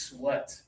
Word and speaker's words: sweat: When you're wet because you've been exercising or it's too hot, this is sweat. Sweat. Sweat with the teeth together. Yeah, it actually rhymes with met.